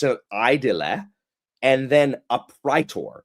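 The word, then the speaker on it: praetor: It's a idle and then a pritor, not a preter. And it like thank you for pronouncing the a in Latin there are no silent words.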